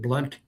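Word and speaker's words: Blount: So that's how you pronounce Blunt. You pronounce it Blunt.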